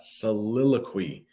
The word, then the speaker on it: soliloquy: the next one is soliloquy that's how you pronounce that soliloquy and this might sound familiar because we have